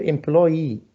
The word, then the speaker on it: employee: The last one here, employee, this different one. Different word with more vowel sound. So how many syllables here? 3. Yes, 3 syllables. Employee.